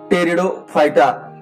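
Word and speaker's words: Pteridophyta: तर आता या ठिकाणी यातील हा तिसरा गट आपण पाहूया, टेरिडोफायटा. पण स्पेलिंग लिहिताना तुम्ही पी सायलेंट या ठिकाणी वाचायचं, टेरिडोफायटा.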